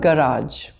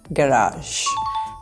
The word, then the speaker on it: garage: This is not garage. This is garage.